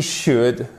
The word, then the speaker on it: should: Vous ne prononcez jamais le L dans should, would, could. OK? Would, should, could.